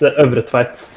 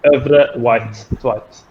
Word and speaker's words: Øvretveit: Yeah, it's just Øvretveit. Yeah. Yeah. Very nice. You guys pronounce the I first before the E.